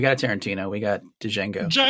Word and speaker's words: Django: We got a Tarantino, we got Django. D is All D D is is silent.